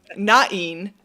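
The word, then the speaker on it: Náin: uh nain um and some people pronounce it N I saw a really convincing argument to pronounce everything with two syllables so that's what I'm going to roll with um nain uh led the FK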